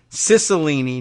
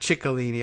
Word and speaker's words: Cicilline: be remembering it wrong it's Cicilline not chicolini I don't know why it would be that doesn't indicate that but I don't know I'm confused this is a Italian surname I think and I'm pronouncing it for some reason like without an almost Turkish pronunciation watching too many Turkish